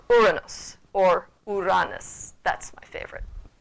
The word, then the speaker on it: Uranus: We're used to starting it with a ur, and either saying Uranus or Uranus. Which one in Latin would be correct seems to still be debated, though most people lean toward the Uranus pronunciation as being the Latinized version.